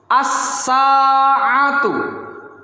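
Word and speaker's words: الساعة: As-sa'atu. As-sa'atu. Perhatikan, di sini terdapat alif dan lam. Walaupun ketika qori imla membacakan tidak terbaca lamnya, tetapi tetap harus ditulis.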